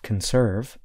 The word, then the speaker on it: conserve: In the verb conserve, I stress the second part of the word. Listen again. Conserve.